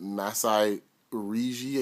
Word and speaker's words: Masai Ujiri: They're looking at Masai Ujiri, I believe is how you pronounce it, from Denver, the young GM there.